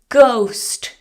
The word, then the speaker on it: ghost: She saw a ghost. Silent H.